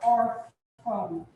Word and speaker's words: órfão: Qual é a sílaba mais forte aqui, nesse caso? Or, ok? Ela é uma paroxítona, a gente vai ver isso daqui a pouco, certo? E quem realmente indicou a sílaba tônica foi o acento agudo. O tio não serviu para indicar a sílaba tônica. O tio serviu para indicar um som nasal.